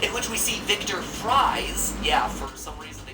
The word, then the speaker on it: Fries: which we see victor fries yeah for some reason they changed his name so now it's pronounced like french fries much better for hiding